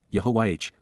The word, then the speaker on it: Yahowah: genuine yah Yahweh God's personal and proper name pronounced Yahweh based upon haa to